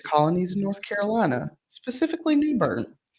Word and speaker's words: New Bern: of North Carolina specifically Newber which was then had spelled with a e at the end new Bernie well it's like my friend her last name is green and it has a e on the in right New Burn new green or green